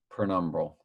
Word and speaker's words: penumbral: i butchered it so bad that they wouldn't even uh correct the spelling for me penumbral there it is penumbral lunar eclipse the last